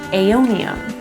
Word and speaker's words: aeonium: I'm gonna go ahead and put the AE together to make an A sound for aeonium.